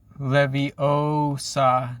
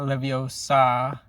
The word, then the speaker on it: Leviosa: She says it's Leviosa, not Leviosa.